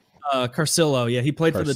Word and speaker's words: Carcillo: How do you pronounce his name? Cicerelli? Carcillo, yeah, he played for the 2010 Hawks, but I don't know how much he actually played for him.